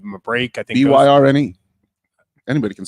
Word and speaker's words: Byrne: I think Byrne. Anybody can spell Byrne. Come on, it's not that hard. Well, I actually changed mine phonetically to Burn because I pronounce it incorrectly all the time if I did.